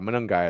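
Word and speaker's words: Monangai: How do you say his last name? Monagai. Monagai. Not gonna be on the waiver wire anymore. Yeah, both of those guys. Brashad Smith. Monungai. Sure. I know. Monungai. Monungai. That's how you say it.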